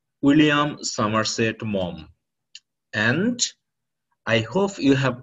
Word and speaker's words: Maugham: it will pronounce like Maugham, M-A-U-G-H, Maugham. But actually, the correct pronunciation would be Mom, M-O-M, like this. So you have to pronounce the full name like William Somerset Maugham.